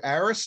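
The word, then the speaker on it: Aerus: For those of you that are interested, go again to Aris, and that's spelled A-E-R-U-S, like Sam.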